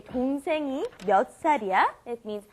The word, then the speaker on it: 몇 살: Notice it becomes pronounced 몇 살. It's kind of stressed on the S, makes it a little bit stronger.